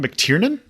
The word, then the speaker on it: McTiernan: is John I would say it is John McTiernan I believe is how you pronounce that other movies that he is directed